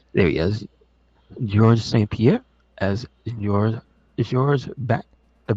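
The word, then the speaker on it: Georges St-Pierre: B there he is George St Pier as your George bat the bat Truck Yeah I forget the S confuses me you don't pronounce the S he is the leap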